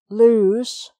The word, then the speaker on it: lose: okay so next one lose to lose something i hate it when i lose my keys so that's a z sound if something is loose